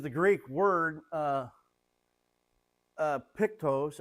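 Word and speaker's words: πτωχός: Uh this is the Greek word uh uh pictose. I believe the ch is pronounced like with a k.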